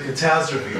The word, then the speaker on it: catastrophe: The description of the catastrophe, you see what I'm doing is a catastrophe. The accent is on the T, בעברית אומרים קטסטרופה, accent on the R.